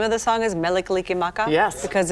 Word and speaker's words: Mele Kalikimaka: Am I saying it correctly that the name of the song is Mele Kalikimaka?